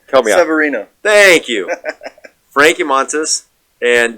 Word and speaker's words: Severino: Severino.